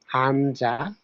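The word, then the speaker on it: 한자: এটা হামজা বলছি হামজাও দেখেন শুরুতে যে বাক শব্দটা আছে অক্ষরটা আছে বর্ণটা আছে সেটা হচ্ছে হিয়ত হিয়তের হতে আছে আ তাহলে হিয়তের সাথে আ আমি হা দিলাম হ এর সাথে আ নিচে নিয়নের হচ্ছে ন তাহলে হান এখন দেখেন জিয়তের সাথে আ তহলে আমি জিয়তের জন্য জ আছে আ আমি আকার দিলাম হানজা তারপর হচ্ছে কি অ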